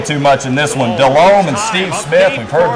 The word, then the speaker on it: Delhomme: Carolina and Jake Delhomme, or Jake Delhomme if you want to pronounce it correctly, finds Drew Carter in the back of the end zone there at St.